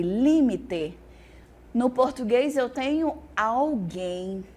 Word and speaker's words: límite: é periferia perifa periféria no português eu tenho limite no espanhol eu tenho limite e límite no português eu tenho